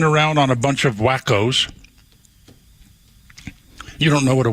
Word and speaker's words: Waco: But he's crawling around on a bunch of wackos.